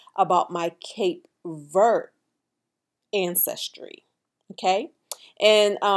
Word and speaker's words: Cape Verde: to say about my cape vert ancestry okay and some may pronounce that as cape verde but the thing about